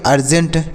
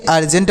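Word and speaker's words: urgent: यू आर जी ई एन टी इसे पढ़ेंगे अर्जेंट क्या पढ़ेंगे इसे अर्जेंट पढ़ा जाएगा क्या होगा प्यारे साथियों अर्जेंट हो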